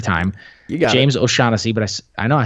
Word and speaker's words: O'Shaughnessy: O'Shaughnessy, but I know I said it right this time.